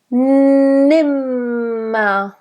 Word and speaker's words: nimmer: Nimmer. And make sure you have a nice double M, so a long nimmer.